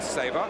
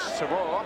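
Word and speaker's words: Savor: Now Wally Sabre. Which is how he asked me to pronounce his name, although known in many parts of Australia as Shavor.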